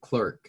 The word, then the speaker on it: Clerk: And James Clerk Maxwell, or Clark Maxwell, I think they pronounced it Clerk, even though it's spelled, or Clark.